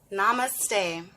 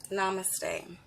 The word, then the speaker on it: namaste: Namaste. Namaste. I love using that as a greeting. Namaste. You may have seen that word before. It looks like namaste. If you look at the correct pronunciation, namaste.